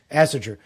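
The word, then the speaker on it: Ásatrú: Asartu, Asaratu. Yep. It's weird. Asatru.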